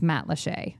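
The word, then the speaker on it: Matlacha: t l a c h yep and it's pronounced Matt Lee and again if you want to St in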